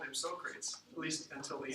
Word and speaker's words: Socrates: Socrates. Yeah. Actually, it's not how he said it. He probably said it more like Socrates.